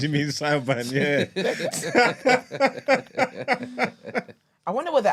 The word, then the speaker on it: Siobhan: Siobhan. I don't want to tackle how to spell that. Is it like Hella consonants. S? You mean Saiban? I-O-B Saiban. Yeah, Yeah, that's Saiban.